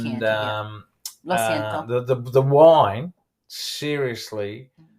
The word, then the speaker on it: Chianti: It is Chianti, all right, yeah. It's spelt with a CH, but it's Chianti, Lo siento.